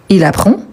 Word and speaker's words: apprend: a pas de s on a seulement le D mais on ne le prononce pas nous vous on a